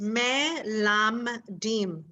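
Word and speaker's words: מלמדים: So mela med. Well, this you can say it 1 syllable, lom. Oh, this can be lom. Yeah. So melam. Yes. Very he's good. good at this. Very good. That's exactly it. It's me lam dim. Very good. Melam dim.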